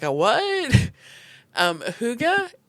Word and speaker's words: hygge: Um Huga is it's spelled H Y G. And yes, I know it's absolutely nowhere near what it sounds like.